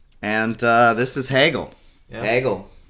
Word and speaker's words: Hegel: uh this is hegel hegel rhymes with kaggle could you see hegel